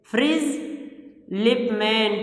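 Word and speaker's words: Fritz Lipmann: फ्रिज लिपमैन, T silent है, फ्रिज लिपमैन, इसने इसको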